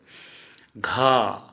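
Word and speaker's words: ঘ: घ, घ को घो, हम असमिया में उच्चारण करेंगे घो।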